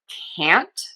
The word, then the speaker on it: can't: The key for this is that we are going to open the mouth wide for that a. Think of opening in a wide circle for the a. We are also going to open in a wide circle and move for the vowel in the word count.